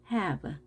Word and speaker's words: have: 이 단어는 발음의 규칙이 깨진 거죠. 끝에 e가 있으면 앞에 a로 읽어야 되지만 이 단어는 e로 읽습니다. have.